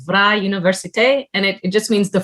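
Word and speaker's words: Vrije Universiteit: quick note for the pronunciation of the university it's vra universite and it just means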